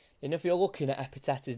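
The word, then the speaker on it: Ekpiteta: back three for Blackpool, it's a silent K. I couldn't believe it. I was trying to work out how you say his name. I was like, Ekpeteta? But I've heard him say his name, and that K was certainly silent. So it is Epiteta, not Ekpeteta, or anything like that.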